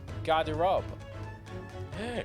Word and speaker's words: Garderobe: Oh, that's how it's pronounced. Garderobe.